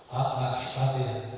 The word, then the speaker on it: Ahava: A-H-A-V-A. Oui, Ahava, ça se prononce Ahava.